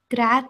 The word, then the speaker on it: Grazie: Okay, it has three syllables, like gra. Grazie. Uh-huh, brava. Good job. Okay. Grazie. Thank you for that. Grazie. And you say the first one a little bit louder. You put the emphasis on that first syllable.